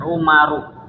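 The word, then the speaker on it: عمر: Kalau belakangnya tidak menggunakan wau, maka ya bacanya Umaru. Kalau enggak pakai wau bacanya apa? Umar.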